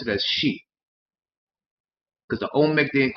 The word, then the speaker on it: Xi: you pronounce it as She. Because the Olmec didn't call themselves Olmec, the Olmec called themselves the She, which is spelled Xi but pronounced She.